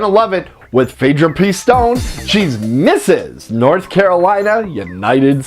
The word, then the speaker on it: Pistone: Pistone. Pistone.